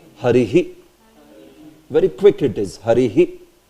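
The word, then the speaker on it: हरिः: Harihi. See, in the end, are you saying Hari ha or Hari he? It should be he. Harihi. Harihi.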